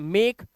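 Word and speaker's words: make: मेक, सी ए के ई, केक, जो आप मोमबत्तियां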